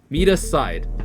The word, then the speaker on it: Miside: kidnapped though number 30 what does meide mean mea side so pretty much confirmation for the meai pronunciation and there's nothing deeper than that so the initial guesses of misai being M aside was correct so that's all of